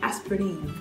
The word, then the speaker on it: Aspirin: know probably is aspirin it's pronounced a bit differently aspirine aspirine aspirine the next German word